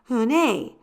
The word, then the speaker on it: Unhei: turned to Joey she nodded slowly yes it's pronounced hunai and it means Grace Mr Kim added hun hey Joey said slowly and this time perfectly it